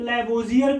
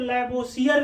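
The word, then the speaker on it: Lavoisier: हिंदी में आप देखेंगे तो लैवोसियर लिखा हुआ है, स्पेलिंग होती है या साई, तो या साई को आप प्रोनाउंसिएशन जा होता है, ध्यान रखिएगा।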